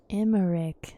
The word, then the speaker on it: Emmerich: am emmerich lord commander of the temple knights emmerich so that's how you say that alfie no